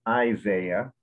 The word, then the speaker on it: Isaiah: english please okay did isaiah prefer professor and why is that important okay so that was a tough word of proximately approximately isaiah has the emphasis on the front so it's isaiah in english and that